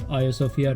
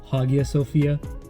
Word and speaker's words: Hagia Sophia: sopia and that's right it's pronounced a sopia not Hagia Sophia the a sopia was